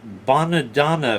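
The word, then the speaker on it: Bonadonna: both owned by the badana family and it's spelled a little funny but it's the chitalian way b o n a d o n na when I was in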